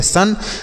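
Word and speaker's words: son: एन एस यू एन तो एस ओ एन इसे हम पढ़ेंगे सन तो आप समझ रहे होंगे कि इसे भी हम सन पढ़ेंगे बिल्कुल सन पढ़ेंगे इसे अब देखिए एस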